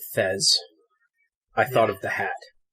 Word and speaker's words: Thesz: So now, every time you said Thesz, I thought of the hat. I was going to say Beth. What? Yeah, because Beth rhymes with Thesz.